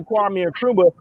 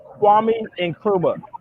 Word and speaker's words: Kwame Nkrumah: Kwame Nkrumah.